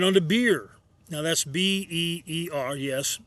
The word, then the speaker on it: Beer: Now that's B-E-E-R, yes, pronounced Beer, but in Hebrew that means well.